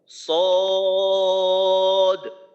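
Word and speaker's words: صاد: দয়াদ আচ্ছা আরিফ ভাই এই সদ উচ্চারণ করার সময় যেন সো এমন না হয় সদ সদ দ হ্যাঁ মাশাল্লাহ হ্যাঁ মাশাল্লাহ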